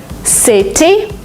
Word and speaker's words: city: In American English, if you have a letter T in the middle of a word, sometimes you pronounce it as D. Letter, letter. Letter? Because it's faster, because it's smoother. City, you don't say it.